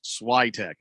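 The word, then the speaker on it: Świątek: uh fat fan also wants to know that swagtech won the french open two years ago and if goff makes the finals uh she may be really nervous that's why i leaned towards slidetech pronounced schweitek i was saying it right i mean i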